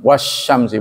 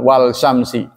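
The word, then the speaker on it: والشمس: Syamsiyah, Asyams sendiri, Shin, Asyamsu, Wasyamsi, bukan Wal Syamsi.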